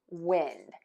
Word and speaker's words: wind: Um, that typically when we have a closed syllable, we are going to pronounce the vowel as a short vowel as in wind.